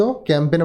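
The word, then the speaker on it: campaign: ক্যাম্পেন বানানটা দেখে নিন, PAIGN। জি এর উচ্চারণটা এখানে সাইলেন্ট থাকবে।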